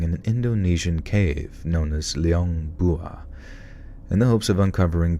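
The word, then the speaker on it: Liang Bua: le as in C and Leong without a pronounce Leong bua bua Leon Leon bua back in 2003 a team comprised of local and Australian archaeologists began Excavating an Indonesian cave known as Leong bua in the hopes of uncovering premodern human remains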